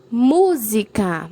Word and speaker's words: música: está na penúltima sílaba a música mu é a sílaba mais forte então está na antepenúltima sílaba então é uma proparoxítona ou o nariz Richa